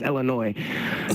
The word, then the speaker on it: Illinois: Don't say Illinois, nigga. The S is silent. It's Illinois.